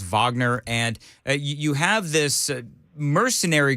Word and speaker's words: Wagner: this this group uh it's spelled in American terms Wagner it's Wagner and you have this